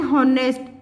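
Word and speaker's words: honest: एन हॉनेस्ट, अब इसमें H silent हो रहा है, हॉनेस्ट ओ का साउंड आ रहा है, इसलिए हमने एन आर्टिकल का इस्तेमाल किया है।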